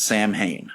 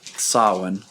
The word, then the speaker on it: Samhain: Or Samhain, depending on the pronunciation and if you're well-versed in the enunciations. Yeah. Most people would say Sam Hain, and then those who know the Celtic would say Samhain.